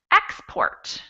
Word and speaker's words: export: stress on export also you'll see that we have in the noun version of the same word it's export so an object is something